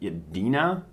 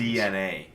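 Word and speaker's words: DeNA: a company I believe called yena I believe that's how it's uh pronounced to make some exclusive uh mobile games it's DNA DNA yes it is yep that's how they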